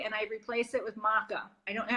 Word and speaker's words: maca: I cut out the coffee and I replace it with maca.